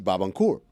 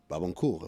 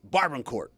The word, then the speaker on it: Barbancourt: were in college, and he pronounces Barbancourt. Barbancourt, if I'm going to be really precise. And so it brought back all these feelings of, am I when I see it at a bar and I don't call it Barbancourt? Or should I pronounce it basically like an Barbancourt? Or should I pronounce it like an idiot, Barbancourt?